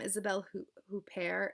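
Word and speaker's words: Isabelle Huppert: um it has um isabelle who pair in it um i think that's how you say it kind of americanized i'm sorry um who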